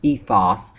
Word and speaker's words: ethos: One of Aristotle's so-called rhetorical appeals is ethos, or as some of us pronounce from the Greek, ethos.